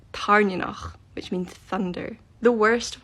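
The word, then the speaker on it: Tairn: She calls Violet's Dragon Tanok. I have no idea who that is. When I read the book, I read Tarn, which means thunder.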